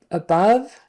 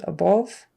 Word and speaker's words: above: best high above um high above is how it should be pronounced I think she says above above more of a long o instead of a short u a schwa kind of sound in English above and she's uh both